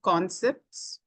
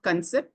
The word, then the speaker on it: concept: Areas that can be improved, one of the color, it is one of the colors, and pronunciation of concepts, it's not concept, concept.